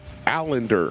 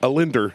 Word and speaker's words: Allender: how are you allender correct yes you actually pronounced it correctly at that time how would how would you always pronounce it a lender a lender yeah just do it without one l allen islander yeah okay